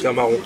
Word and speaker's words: Terre Marron: Et Terre Marron, donc Témaron, c'est comme ça que ça se prononce ? Terre Marron.